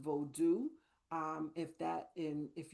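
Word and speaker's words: Vodou: So I will start by saying that voodoo is actually pronounced bodu. Um if that in if you are referring to Haitian vodu and the thing that I will offer about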